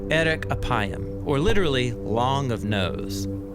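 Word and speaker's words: אֶרֶךְ אַפַּיִם: in Hebrew the phrase slow to anger is pronounced Eric aayam or literally long of nose but what does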